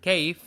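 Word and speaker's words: كيف: feharuk in arabic and kaif is pronounced like cave so how are you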